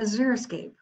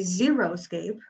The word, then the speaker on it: xeriscape: dry but fairly dry this is not a xeriscape this is a zero escape but sometimes people that see the word xeriscape mispronounce it and call it a zero escape but we don't we